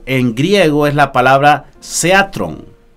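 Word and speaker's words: θέατρον: En griego es la palabra seatrón o algo así, ¿no? Seatrón, con el acento en la E.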